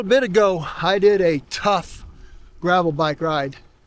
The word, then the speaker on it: Tuff: And that's spelled T-U-F-F, the way tough is always spelled.